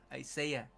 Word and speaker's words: Isaiah: Isaiah. That's how you say it in English.